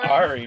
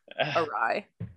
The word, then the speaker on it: awry: alright yeah all right i like ari more oh things went already real fast i'm very likely wrong but i also feel like i've heard it pronounced that way before it's definitely right definitely awry it's probably crazy sounds